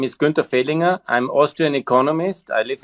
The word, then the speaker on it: Fehlinger: I pronounced your last name Fehlinger. Is that correct? Yes, absolutely correct. Thanks for the invitation. Okay, perfect, Mr. Fehlinger.